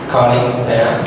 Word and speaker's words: Kaling Tayeng: Kaling Tayeng. Am I pronouncing it right?